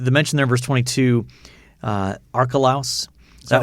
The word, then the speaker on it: Archelaus: um the the mention there verse 22 uh archelaus that's how that's pronounced archelaus that was one of herod the